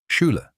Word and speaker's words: Schüler: Schüler school Before we recap, three mistakes almost every English speaker makes and how to fix them fast.